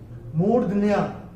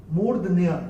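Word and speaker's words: मूर्ध्न्या: चाहेंगे तीसरे चरण में ये जो शब्द है murdya moordhya इसका उच्चारण होगा moordhya हम आपको क्यों बता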